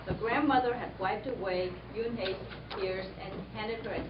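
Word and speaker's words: Unhei: "Une?" the girl asked, scrunching up her face. One," some kids chanted. No, Yoon-hae corrected. It's spelled U-N-H-E-I. It's pronounced Yoon-hae.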